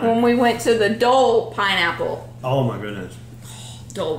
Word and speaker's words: Dole: Dole. Dole. Dole. Dole. It's not Doyle. I know. Okay. See, Try again. I'm thinking about it too hard, so my accent's getting in the way.